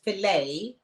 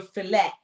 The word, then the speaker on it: filet: fact that the word filet you don't pronounce the T so we're talking about